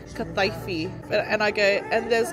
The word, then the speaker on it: kataifi: It's meant to be called kataifi.